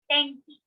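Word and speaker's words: 天気: the arrow so again weather in japanese is tenki another example that we have is or study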